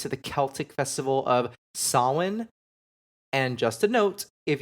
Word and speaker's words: Samhain: Not gonna lie, I've read it and used to pronounce it that way until I heard it said, and it is Samhain.